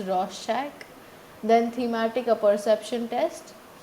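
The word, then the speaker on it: Rorschach: Shack in blot test it's pronounced as Ros Shack then thematic a perception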